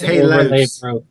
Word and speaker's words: Halas: it is just fine, but I think the official pronunciation has been changed on their end to Halas. I think it's Halos. Halos. Halos. It's Halos, guys.